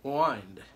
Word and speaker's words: Wynd: of history on that the reason it's pronounced wined instead of wind wy ND would be